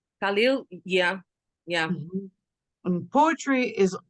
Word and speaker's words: Khalil Gibran: Khalil Gibran? Khalil, yeah.